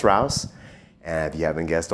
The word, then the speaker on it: R.O.U.S.: here we have the r-o-u-s or rouse or roos depending on how you want to say it made by blakemore effects